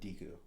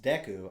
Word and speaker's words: Deku: too growing up i literally always called it deeku like that's just how i i read it that's how i pronounced it so i would just call it